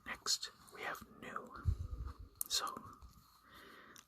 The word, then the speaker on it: nu: So nu. It is also pronounced like an N in the English language, so the pronunciation like mu is easy enough.